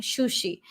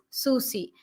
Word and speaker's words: Susie: I'm not saying shushi, it is Susie.